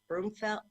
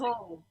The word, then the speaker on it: Broomhall: Broomfeld? How do you say your last name? Broomhall. Broomhall. Broomhall.